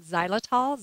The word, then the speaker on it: xylitol: of the sugar alcohols like xylitol z or it's spelled x y l i t o l a lot of times